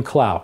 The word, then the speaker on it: Clough: You pronounce your surname Clough. Yes, I do. In England, it would be Clough. Where's your family from originally? I am told France, specifically Normandy. The name was originally pronounced Clough. In fact, it was spelled C-L-U-F-F-E.